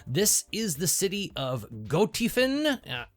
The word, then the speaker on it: Gothiefen: I actually think it's the user's name, Tiefen, and the word go put together, but German was my second language, so anything that looks remotely German, I pronounce with a German pronunciation. So we're going to go with Gothiefen.